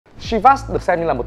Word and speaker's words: Chivas: Hãng rượu này đọc gọi là Chivas chứ không phải là Chivas như mọi người hay lầm tưởng.